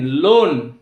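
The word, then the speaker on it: loan: example এল ও এন লোন এখানে ও এর পরে যে এ লেটারটি রয়েছে তার কিন্তু আমরা উচ্চারণ করছি না তো এল ও এন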